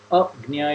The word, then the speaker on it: Agnya: And if you pronounce it Agnya, it will be better because means ignorance, Agnya means ignorance, not ignorance.